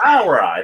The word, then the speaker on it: Brauerei: Brauerei.